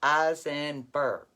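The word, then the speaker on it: Osnaburg: n a b u r g but you pronounce it as azenberg fabric you buy it where they sell the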